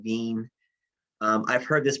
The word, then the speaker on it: Wien: named wilhelm veen so this is german ws are pronounced with v's so he his he said his last name veen um i've heard this pronounced just as often weans law because you know